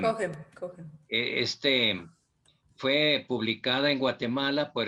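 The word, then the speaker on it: Cochem: Esta es la edición que les decía de la edición del padre Martín de Cogem, se pronuncia Cogem. Cogen.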